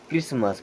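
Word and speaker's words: Christmas: castle इसे क्या पढ़ते क्रिस्ट मस नो टी होता है साइलेंट और फ से क्या पढ़ते हैं क्रिस्मस क्रिस्मस एक त्यौहार होता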